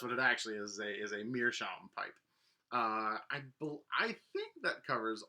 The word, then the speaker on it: meerschaum: The last one is that there's something called a meerscum, which is actually a sort of a mispronunciation of meerschaum, which is oftentimes, so